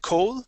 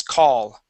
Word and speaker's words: call: and the word call make sure to use an a sound instead of O Okay you would said Co this is call call okay one more